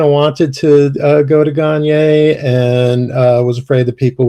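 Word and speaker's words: Gagné: basically for years, my family always used Gagne because nobody could ever get the French pronunciation. Um, and I always kind of wanted to go to Gagne, and was afraid that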